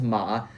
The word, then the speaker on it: 馬: So guys, this is 3 ways to write horse in Chinese, pronounced ma.